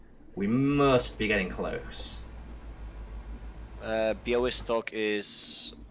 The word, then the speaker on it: Białystok: Białystok. Yeah, thank you. Thank you for the pronunciation.